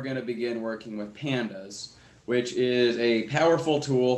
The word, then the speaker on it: pandas: so technically speaking the name pandas stands for panel's panel data so it should be pronounced pandas however i and most people i know pronounce it pandas like the pandas bears because this leaves the